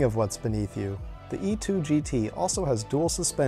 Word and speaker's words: E-Twow: it freaking rips let me show you the e2 gt and yes that's apparently how it's pronounced really surprised me in the speed and